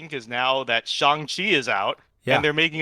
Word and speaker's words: Shang-Chi: justified with the young pronunciation because now that shanghi is out and they're making a deliberate effort to pronounce it shang-chi now uh everyone will know the proper pronunciation